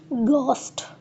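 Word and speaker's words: ghost: होते ठ वफ खफ वर्ड में जी के बाद एच हो तो एच साइलेंट हो जाता है वर्ड की प्रोनाउंसिएशन होगी गोस्ट यानी कि एच की प्रोनाउंसिएशन नहीं होगी।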